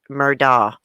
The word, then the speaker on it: Murdaugh: of death revealed and i looked up how to pronounce their name this morning it's murdah my accent i probably